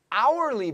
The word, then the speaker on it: hourly: On an hourly basis. Yes, 여기는 hourly, H가 묵음이니까 an으로 해야 돼요.